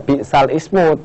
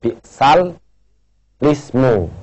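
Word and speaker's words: بئس الاسم: ini ya bal Ismu cara macanya ismunya dibaca lismu ya walaupun tulisannya bal Ismu tapi wajib dibaca bal lismu ya Ismu diganti dengan lismu ya jadi bacanya kemudian yang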